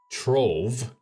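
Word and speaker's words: Trewoofe: Trewool, pronounced Trove, apparently, was once the grand house of the powerful and influential Lovelace family.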